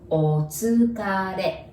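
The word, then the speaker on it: おつかれ: And that is otsukare. Otsukare. And there's R there again, so you pronounce it like L, right?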